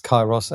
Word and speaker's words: Kairos: It's Chyros as in the Greek word K A R O S.